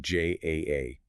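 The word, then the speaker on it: JAA: But then the Joint Aviation Authorities requires the distinct spelling J A A.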